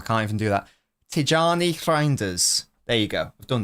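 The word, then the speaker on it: Reijnders: You got to roll your R at the start.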